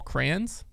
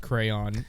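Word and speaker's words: Krans: This person was saying they were hoping more consistent plan out of Paul Kranz. Yeah, That was kind of their TBU choice? last year, It's man. pronounced crayon.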